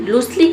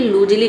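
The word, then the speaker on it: loosely: लूसली, लूसली का मतलब होता है ढीले से। लूजली नहीं से, इसे लूसली नहीं पढ़ेंगे, लूजली पढ़ेंगे, ठीक है, लूजली यानी कि ढीले ढंग से।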